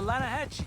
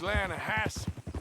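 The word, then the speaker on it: Lannahechee: The the Lanahhatche. It runs right near here. Yeah, but it's pronounced Lanahassee.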